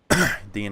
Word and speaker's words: Dean: this one extremely safe Dean rhymes with mr. bean food for Todd yeah I've actually heard on before mr.